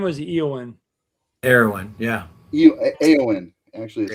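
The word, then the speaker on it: Éowyn: Eowyn. Actually, is how I pronounce that.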